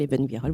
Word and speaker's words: Ibn Gvirol: Eben Gvirol, vous connaissez sûrement son nom, prononcé aussi Eben Gvirol.